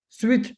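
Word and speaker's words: switch: Turn turn the स्विच स्विच T silent है।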